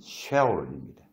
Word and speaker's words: 스올: 이 서울이라는 이 정확한 발음은 쉐올입니다.